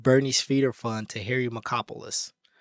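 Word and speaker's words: Markopolos: Frank then gave the one-page tear sheet of Bernie's feeder fund to Harry Macopoulos, whose name is actually spelled like Marco Polo.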